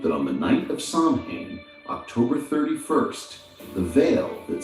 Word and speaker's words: Samhain: Their most significant festival was Samhain, pronounced Samhain, marking the final farewell to summer and the welcoming of the desolate, dark winter, a season deeply intertwined with death.